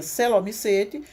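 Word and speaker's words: coelomycetes: Escreve coelomicetes, mas a gente pronuncia celomicete.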